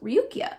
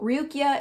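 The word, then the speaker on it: Ruqyah: Okay, so this is also tied into a practice called Ruqya. It's spelled R-U-Q-Y-A-H, and it is a critical study of mind, which is essentially healing through the Quranic verses.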